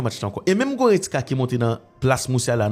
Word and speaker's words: Goretzka: Goretzka. Vous entendez? Goretzka. 3 syllabes.